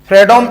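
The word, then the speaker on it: Fredholm: equation an integral equation आपको पता है एल साइलेंट रहता है इसमें फ्रेडमिक इक्वेशन में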